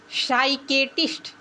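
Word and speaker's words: psychiatrist: आगे है पी एस वाई सी एच आई ए टी आर आई एस टी साइकेटिस्ट।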